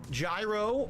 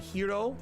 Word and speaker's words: gyro: have a traditional chicken gyro although I believe it's authentically pronounced like hero or something like that hero instead of Gyro g-y-r-o all right it's got